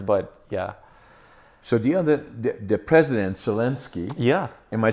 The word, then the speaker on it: Zelensky: So the president Zelensky.